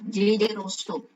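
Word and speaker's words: J. J. Rousseau: Peter, bacanya gini. Biasanya disingkat J.J. Rousseau.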